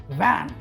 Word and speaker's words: van: अगर आप बात करें VAN की, राइट, तो जो टेक्निक है VAN को प्रोनाउंस करने का वो ये है कि आपका ऊपर का दांत आपके नीचे होठ को लिप्स को टच करना चाहिए। कैसे? इस तरीके से, वैन, विक्ट्री, राइट।